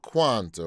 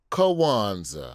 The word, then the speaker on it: Kwanzaa: Talking about Kwanzaa, or as I pronounced it the first time, Kwanzaa. I don't know why I added a letter, but that's what we do in Alabama.